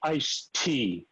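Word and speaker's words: ISTEA: years ago there was something called ice tea that was how they pronounced it it was the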